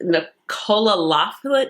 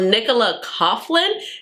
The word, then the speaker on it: Coughlin: And I just really love how she have, I think, Nicola Laughlin. I'm pronouncing her name wrong. But so Nicola Coughlin.